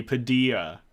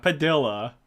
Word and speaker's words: Padilla: Anthony Padilla. Not Padilla. It's not like quesadilla. It's quesadilla.